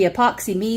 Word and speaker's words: Epoxy M3: epoxy M3 that so it's supposed to be epoxy me that but it's spelled as M3 so if you want